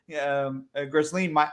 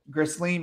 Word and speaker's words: Ghislaine: Yeah, because there was a spoof article about how Ghislaine Maxwell got the virus, and I had to play on it, so I posted it. Hold on, how did you say it again? Ghislaine Maxwell? Maxwell. Ghislaine Maxwell.